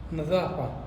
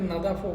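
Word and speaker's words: نظافة: তো সাফাই করা অথবা পরিষ্কার করা, এটাকে আরবিতে বলা হয় নাজাফা, যে পরিষ্কার করা, বা লোকালভাবে অনেকে নাদাফও বলে থাকে। তো এখানে কিন্তু আমি একটা কথা বলছি না, আপনি উচ্চারণ মানে লিখতে গেলে এরকম, কিন্তু বলার সময় একটু ডিফারেন্স হবে, এটা আঞ্চলিক ভেদে।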